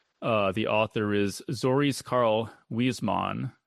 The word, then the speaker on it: Huysmans: It's a French novel from 1884 The author is Zoris Karl Huysmans. It's spelled, it looks like Huysmans, Huysmans. It's pronounced Huysman, I think.